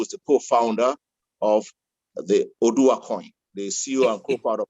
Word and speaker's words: Oduwa: I've listened to a few of the videos on how do you pronounce it? Oduwa coin. Oduwa.